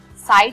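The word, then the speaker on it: psi: होता है, ठीक है, ये साई होता है, इसको हम लोग साई बोलते हैं, P साइलेंट होता है, ठीक है।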